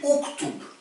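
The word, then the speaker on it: اكتب: À la différence, alors il y a une exception, c'est que si c'est ou la voyelle, par exemple yaktub, c'est pas iktub, c'est uktub.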